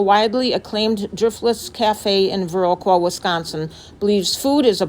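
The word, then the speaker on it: Viroqua: we just got to veroa Wisconsin did I pronounce that right yeah that's veroa and we are parked we found a parking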